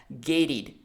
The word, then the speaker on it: gated: You just have to transform the T sound into a D sound. So not gated, but gated communities.